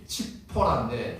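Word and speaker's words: צפורה: 않고 뭐 해요 10보라는 이제 원래 원어 발음이 칙포라인데 치포라는 작은 새라는 뜻입니다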